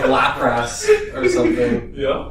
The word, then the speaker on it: Lapras: Or like Lapras or something. Yeah. I feel like I pronounced that right. Anyway. Yes, you did. Lapras.